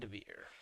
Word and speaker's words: Vandeveer: I've been going with Vandeveer. So that's the more Dutch way of pronouncing it. Vandeveer.